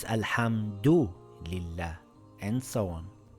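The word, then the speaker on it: الحمد لله: Pronounce all the vowels and sukoons as they are written. For example, this reads alhamdulillah. We must read it exactly as it is written. So I can't say alhamdi lillah.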